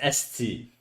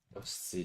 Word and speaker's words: esti: It's esti, okay?